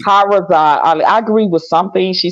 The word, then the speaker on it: Shahrazad Ali: As far as the sister Shirazi, how you pronounce her name? Ali. Shahrazad Ali. Shahrazad Ali.